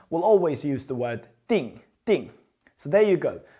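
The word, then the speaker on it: 订: And what this character means now, the whole character pronounced as ding means to reserve or to book something.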